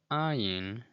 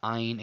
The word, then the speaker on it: Ayin: Now, the Ayin is a glottal stop, and for our purposes, we'll just say that it's a silent letter, like the letter Aleph.